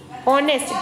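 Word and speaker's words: honest: sound of consonant example ऑनेस्ट there is H silent दैट्ची start with the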